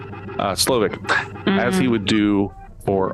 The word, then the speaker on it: Slowik: I always want to pronounce that W like a V, like it's Slavic. Slovak, as he would do for all succeeding dishes.